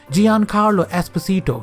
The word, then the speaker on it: Giancarlo Esposito: a second how do you say his name Giancarlo Esposito yeah that's his name voice Faraday in Edge